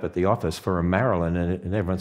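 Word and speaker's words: Marylyn: And she was named Marilyn, spelled M-A-R-Y-L-Y-N. See, most of the staff here don't even know that her real name is Marilyn, really Mary Lynn, pronounced Marilyn, but nobody ever calls her Marilyn.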